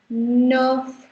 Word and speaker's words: neuf: And 9 is called nerf. Here also the F is pronounced. So ka sound hai, and then there is nerf. And don't call it noof or nef or anything else. It's not. It's nerf.